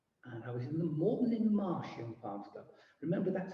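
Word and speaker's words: Moreton-in-Marsh: And I was in the Morton in Marsh Young Farms Club. Remember, that's how you pronounce it. It's not Morton in the Marsh. It's Morton in Marsh and in East Gloucestershire.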